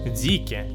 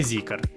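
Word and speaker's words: Zeekr: такі як Link nко zке так Саме так він правильно читається а не zкаer пол Star proton лотус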